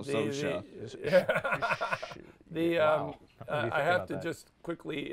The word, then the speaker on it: Saoirse: Yeah, it's like I just thought of it as like Sammy Sosa, but with an SH in it. You know, so Sosa.